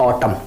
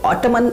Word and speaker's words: autumn: इसको ऑटमन ऐसा कुछ नहीं बोला जाता है, इसको पढ़ा जाता है ऑटम। ऑटम मतलब होता है पतझड़। ठीक है फ्रेंड्स, तो एम के बाद एन आया तो यहाँ पे एन क्या है, साइलेंट है।